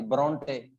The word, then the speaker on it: ब्रोंटे: और हाँ, आपको ब्रोंटे सिस्टर्स, ब्रोंटे सिस्टर्स आ गई, ब्रोंटे, परोंठे से याद कर लो, ब्रोंटे, परोठे से याद कर लो, परोठे, ब्रोंटे, ठीक है जी।